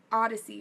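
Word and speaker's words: Oddisee: me put on some more music that was Odyssey right um by the way the music that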